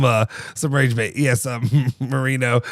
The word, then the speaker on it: Moreno: Yes, Marino. Not Dan Marino. Marino. Like more like Moreno is how it's spelled.